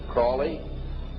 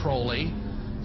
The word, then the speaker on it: Crowley: learned about was Aleister Crowley. He likes to have his name pronounced Crowley to rhyme with holy.